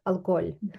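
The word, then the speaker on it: alcohol: Алколь. Дивись в оцьому слові алкоголь. Да. Оце ж не читається, а ці дві зливаються. І воно звучить як бебес алкоголь.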